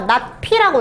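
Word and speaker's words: ~p: 물결피인데 우리는 얘를 물결이라고 읽진 않고요, 얘들아. 낫피라고 읽어요. 낫피. 낫피. 진짜 그 영어 not 있잖아요.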